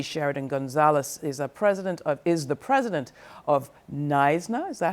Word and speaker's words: NYSNA: Judy Sheridan-Gonzalez is the president of NYSNA. Is that how you pronounce it? Yes. NYSNA.